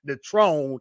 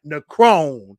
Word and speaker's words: Necrone: I used to say Netrone, not Necrone.